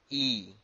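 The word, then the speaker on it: 乙: The flowers is pronounced as E.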